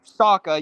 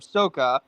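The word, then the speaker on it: Sokka: Instead of Saka, you have Soka.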